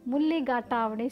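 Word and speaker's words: mulligatawny: ஆனால் பிரிட்டிஷ்காரங்க வாயில் அந்த மிளகு தண்ணின்றது முதல்ல வந்து அவங்களுக்கு ப்ரொனவுன்ஸ் பண்ண ரொம்ப கஷ்டமாக இருந்ததுனால அவங்க வந்து பார்த்திங்கன்னா அதை முள்ளி காட்டாவணி சூப் அப்படின்னு சொல்லுவாங்க. அதாவது மிளகு தண்ணி அப்படின்றது தான் முள்ளி காட்டாவணி அப்படின்னு.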